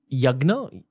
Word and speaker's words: Yagya: So is it fair to say that a Havan is a much larger bomb of progress and then a yagna, how do you say it? Yagya.